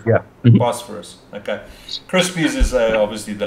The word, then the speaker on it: Bosphorus: That's how you pronounce it, eh? Bosphorus. Bosphorus, yeah. Bosphorus.